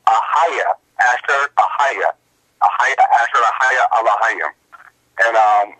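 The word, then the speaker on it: Ehyeh Asher Ehyeh: God's name in the ancient Hebrew is pronounced Ahaya, Asher Ahaya, Ahaya, Asher Ahaya, Elohim.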